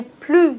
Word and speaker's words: plus: Dans ce cas-là, on doit pas prononcer le s. Ne plus. Par exemple, je n'ai plus d'argent, il n'a plus de voiture. Mais attention, quand il y a un voyelle après le mot plus, on doit faire la liaison et le s se prononce Z.